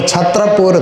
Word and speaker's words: छतरपुर: छत्रपुर था पर धीरेधीरे छत्र का उच्चारण छतर हो गया तो थोड़ा सा वो उच्चारण में भिन्नता आती है ना अपभ्रंश होने से तो छतरपुर आजकल उसको छतरपुर कहा जाता है।